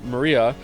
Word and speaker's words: Maria: right her name is written of course it's pronounced Maria the third character looks like a cross which